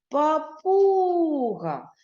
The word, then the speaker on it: папуга: ще раз це слово погукаємо папуга наголос на другий склад на у визначимо скільки звуків і